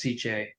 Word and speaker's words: SICCE: SICCE is how you say and how I pronounce CJ.